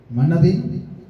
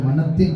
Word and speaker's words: மனத்தின்: மறை விதைகள், மனதின், அது தமிழிலே மனத்தின் என்று சொல்லி உச்சரிக்கப்பட வேண்டும் என்று சொல்லி எனக்கு அறிவுறுத்தப்பட்டது. மனத்தின் மறை விதைகள்.